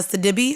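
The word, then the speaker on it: Sidibe: He decided to drop a meme on social media that had Gabby uh Sadibby, I believe is how you say her name.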